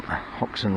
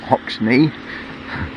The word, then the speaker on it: Hoxne: Church Street, and coming back on Hoxton Road. Yes, Hoxton, not Hoxney, as it's spelt.